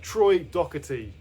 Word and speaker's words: Troy Donockley: Uh Troy Donockley. That's how you pronounce it. Uh Troy Donockley.